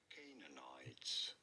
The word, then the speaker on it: Canaanites: To the You do want to stress on the first syllable, on the K syllable. Canaanites.